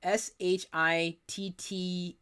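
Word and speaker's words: Schitt's: Tonight I started I got to be careful about saying this, but SHITTS Creek on Netflix. Started it the other day. Rhymes with mitts and begins with an SH.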